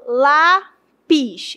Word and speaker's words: lápis: Paroxítona é a penúltima sílaba forte. Quando eu faço a pronúncia de lápis, lápis tem apenas duas sílabas. É uma de sílaba, né? Então eu falo lápis, ela é a penúltima. Então, se a penúltima é a mais forte, eu chamo de paroxítona.